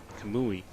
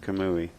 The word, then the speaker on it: Kamui: He was over there, and I told him to tell the booth how to pronounce Kamui.